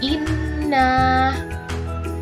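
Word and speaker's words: إنّا: Kedua, jika ada huruf hijaiyah yang bertasydid, maka membacanya harus ditekan karena huruf yang bertasydid berarti double, seperti membaca inna. Ketika mengucapkan kata inna, maka harus ditekan pada nun yang bertasydid hingga mendengung.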